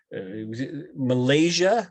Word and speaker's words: malacia: okay like chondro malaysia malaysia malaysia you could say malaysia is is the more common pronunciation of that chondro means cartilage